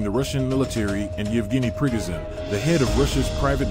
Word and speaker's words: Prigozhin: Prigozhin, pronounced pree-GOH-zhin, claimed he had control